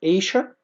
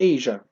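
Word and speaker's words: Asia: ننتقل للنقطة اللي بعدها continents القارات أفريقيا طبعا آسيا ليها نطقين ايشا أو ايجا الاتنين صح ايشا أو ايجا.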